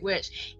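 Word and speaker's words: Wych: Witch. In England, he spelled out W-Y-C-H. And he says, which is which.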